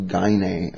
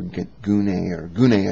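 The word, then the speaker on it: γυνή: But that lust in your heart is in reference to gyne, or gune, I think is the appropriate way to pronounce it.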